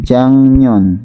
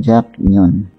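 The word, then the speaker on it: 작년: Tapi karena dia diikuti oleh mim atau nian, nih, ini kan niannya, otomatis berubah menjadi eng, bacanya harusnya jak, jadi jangnyon bukan jaknyon.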